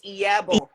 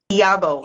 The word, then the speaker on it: Iyabo: The I is pronounced as E. E. So it's Iyabo. Iyabo.